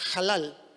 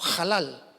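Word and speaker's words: הלל: alabar viene del hebreo es una palabra hebrea que se pronuncia halal el hebreo es un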